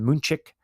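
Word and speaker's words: München: They are London, Madrid, um you know um um Dublin, uh Mexico City, uh you know, Munich or they properly pronounce it, Moonchick.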